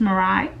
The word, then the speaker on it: Morai: I believe that's how she says it. It's spelled M-O-R-A-I, and her @ name is Morai XOXO. I hope I'm saying that right. It's kind of like Mariah, but no at the end, just Morai.